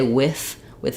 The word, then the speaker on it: with: So I typically say with a voiceless TH sound, like in thank or think. But some people say with a voiced TH sound, like in breathe or these. And both are correct.